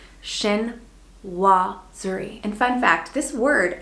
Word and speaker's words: chinoiserie: So say it with me, shin-waa-zuh-ree.